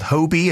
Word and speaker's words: Hobi: look at here is called Hobie it's spelled Hobi and it describes itself is